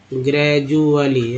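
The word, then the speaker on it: gradually: जैसे ग्रेजुएट, simple, या ग्रेजुअली, ग्रेजुअली। अब ग्रेजुअली में डी को ज बोलते हैं, जी को ग ज बोलते हैं।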